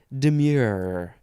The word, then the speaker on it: demure: word it is demure there's an e at the end so you know it's pronounced demure adjective from The 14th